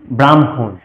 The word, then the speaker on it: ব্রহ্মা: আমরা শব্দগঠন করতে যাই তবে আমরা পাবো ব্রহ্মা, ব্রাহ্মণ। এবার আমরা অনেকে এই শব্দগঠন গুলো উচ্চারণের ক্ষেত্রে, সংস্কৃত উচ্চারণের ক্ষেত্রে ভুল করে থাকি।